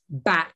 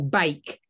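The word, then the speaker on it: Bakke: And the last one was the University of California versus, I think it's pronounced back or bake.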